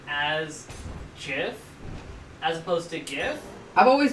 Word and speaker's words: GIF: pronounced it more like gif as in the peanut butter brand not not a wi sound it's more pronounced like the creator of gifts pronounced is it more like J as in Jiffy J as in Jiffy